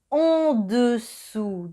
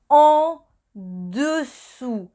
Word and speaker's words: en dessous: U, dessus, au-dessus y en dessous. Primero es el sonido en, y para hacer en es como pronunciar una A, pero debe bajar la